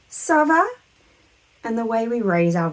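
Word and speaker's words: ça: is called the sadilla it's going to be pronounced S I always like to imagine that that little Hook is like turning it into a miniature s so our pronunciation is always SAA when we're answering that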